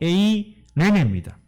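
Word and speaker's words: εἰρήνη: 이 화평이라는 단어는요 헬라어 발음으로 에이레네입니다.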